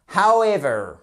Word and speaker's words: however: par un H et attention à la prononciation however dou V vous allez voir pourquoi how W V however et pasever c'est pas wether c'est pas la météo